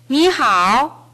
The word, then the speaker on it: 你好: 你好 네, 이 부분을 연습하겠습니다.